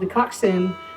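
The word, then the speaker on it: coxswain: Here's a song Elwood wrote called The Coxin. That's spelled C O XS W A I N.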